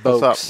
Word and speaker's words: Vokes: Actually, pronounced no, Vokes.